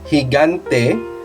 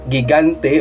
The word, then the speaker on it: gigante: And this variety of pronunciation in G we use it in a single word like uh higante not gigante or uh heante but it's higante because we